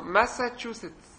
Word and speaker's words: Massachusetts: There are three syllables.